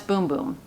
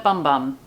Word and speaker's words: Bum Bum: right on the inside pronounce boom boom because it will make your heart go boom boom there you go so it's boom boom cream so everyone out there who's calling it bum bum cuz I know the